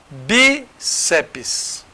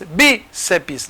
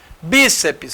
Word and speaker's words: bíceps: vocês terem uma ideia bíceps tem gente que acha que tem três sílabas bceps não até na hora de você pronunciar aparece em TR mesmo não é não bíceps sabe por quê Porque toda sílaba tem que ter vogal Se eu colocar c e deixar o PS de lá cadê cadê a vogal para o PS não tem então é bíceps tem duas sílabas só porque aqui teria